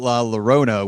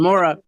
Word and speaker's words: La Llorona: Because I was raving about La Llorona, which we're going to be talking about here